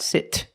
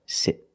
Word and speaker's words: sit: Not sit, but sit.